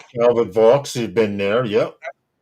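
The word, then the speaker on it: Calvert Vaux: Oh, was it uh how do you pronounce that? Calvert V Park. Calbert Vox.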